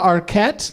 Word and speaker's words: Arquette: Rosanna Arquette. That's how you pronounce it, Sam.